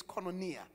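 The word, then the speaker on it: koinonia: One, there's a word called kononia or kononia, but it's right pronunciation is kononia.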